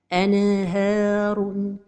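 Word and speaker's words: أَنْهَارٌ: Anharun. La deuxième erreur, c'est de prolonger son temps. Anharun. La troisième erreur, c'est la pause. Anharun. Donc la prononciation correcte est anharun.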